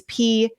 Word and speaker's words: Peitz: It's Peitz. And it rhymes with lights.